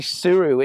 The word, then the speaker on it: Sirui: It's actually I think it's pronounced the Sirui, it's S-I-R-U-I, and the